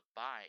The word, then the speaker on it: buy: 可以发音，如这个 buy 一样哈，b u y buy 哈